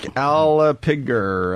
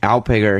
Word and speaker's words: Alpiger: of Kong introducing Mark aliger aliger what's his name and what is he he pronounced like alpiger he plays some Castle